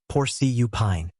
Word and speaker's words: porcupine: Porcupine has stress on the first syllable. Porcupine.